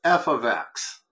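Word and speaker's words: f(x): you got all right F parentheses X so just why I guess Michaels hold on a second first of all this is pronounced f of X you don't need to say F parenthesis X and parentheses it's f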